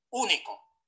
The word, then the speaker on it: único: Y el golpe de voz va en la tercera contando desde el final. Es único. No es único y único.